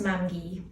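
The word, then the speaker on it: mamgu: the Welsh word for Grandma so it's for mangy who's my mum's mum and then Grandma who's my dad's mum who and I'm very very close to both of them so yeah it's pronounced mangy yeah grandmother yeah so who would you say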